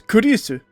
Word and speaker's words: Kurisu: This is just a Japanification of his name. It's Kurisu.